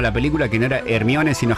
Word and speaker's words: Hermione: Muchos también se enteraban con la película que no era Hermione, sino Hermione.